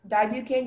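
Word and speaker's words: dibucaine: Your word is dibucane. Can you say the word again? Dibucane. Dibucane? Yes. Does this have the root di meaning two? From what language? Can you give me the definition? Sure. Dibucane means a compound used as a local and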